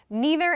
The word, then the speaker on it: neither: references this issue so they have neither and neither as good examples or like potato and potato both acceptable or tomato and tomato so there are different pronunciations for a few words and you might know some more but they're both fine they're both acceptable you can use neither or neither I would say personally